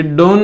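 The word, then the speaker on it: done: डन, ये डोन नहीं होता है, डन होता है, कम, डन, इस तरीके से।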